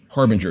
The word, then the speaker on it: Harbinger: yeah thank you prounce say harb Harbinger just like the standard word yeah something that leads